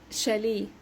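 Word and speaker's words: chalet: اخرها اوتي انطقها اي شقه شاليه شالي اخرها اوتي انطقها اي دايما بنقول شغلي الكوبليه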